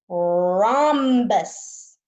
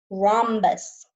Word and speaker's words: rhombus: this shape is a rhombus say that with me rhombus the H here is silent rhombus my rhombus is also